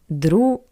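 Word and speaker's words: друг: the voice consonant g at the end of the word is read as a paired to it voiceless consonant c g changed to C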